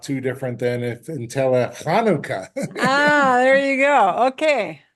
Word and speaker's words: Hanukkah: and the Jewish holidays, Hanukkah is really in Hebrew, it's Hanukkah. And there's no way to spell that in English per se, but the ch sound is just like the ch sound that a G would sound like in Spanish.